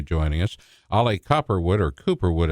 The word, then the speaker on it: Cooperwood: Ollie Cooperwood, or Cooperwood as I call him, basically, because that's the way you say his name, Cooperwood.